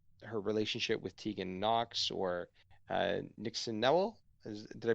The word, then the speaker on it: Nixon Newell: It talks about her relationship with Tegan Knox, or Nixon Newell. Did I pronounce that correctly? Nixon Newell, yep, spot on.